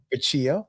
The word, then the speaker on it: Facciolo: Uh this is the Mario Facciolo, I'm assuming that's how you pronounce his name. I have to say Facciolo, yeah. Facciolo, okay. This the double L's are a Y sound.